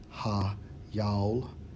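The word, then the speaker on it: chayil: we focus on strength strongs H 2428 pronounced as ha yal goes into your riches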